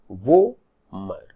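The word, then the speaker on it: vomer: क्योंकि ये दो बोन को जब आप प्रोनाउंस करोगे तो जो स्ट्रेस होता है that is ऑन O, zygomatic, वोमर.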